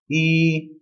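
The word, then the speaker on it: 一: it's also first tone very easy to remember e is number one so the number one e that's it it's the letter e the second number number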